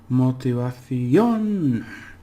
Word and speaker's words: motivación: Remember how we clip it into syllables and say motivación, on. You've got to hit that on word, because usually it would be in the "the" if it didn't have accent, and that would sound like motivación, and that sounds strange.